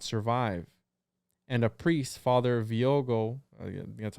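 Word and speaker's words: Viogué: And a priest, Father Viogo, that's how you say it, was called in to administer the last rites.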